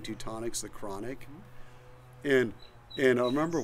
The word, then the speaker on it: Teutonic: And it rhymes with chronic, so. Oh, my God. That's, sorry. So, yeah, our rosé, people would thought it smelled like cannabis, and so they started saying Teutonic's the chronic.